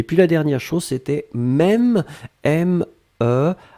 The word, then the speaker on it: même: Et puis la dernière chose, c'était même, M-E, accent circonflexe, M-E.